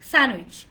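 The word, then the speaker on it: sandwich: ইটস নট, ওরা আমাকে ওইখান থেকে আবার বলতেছে হ্যাঁ হ্যাঁ না, এটা স্যান্ডউইচ না, এটা স্যান্ডউইচ না, এটা কি হবে? স্যান্ডউইচ। স্যান্ডউইচ। ডিটাকে সাইলেন্ট করে দেন।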